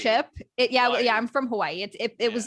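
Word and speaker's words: Hawaiʻi: the biggest one babe why are there two eyes at the end of it because technically it's hawaii and there's a little okina in between each eye so that's like how you pronounce it what's the thing they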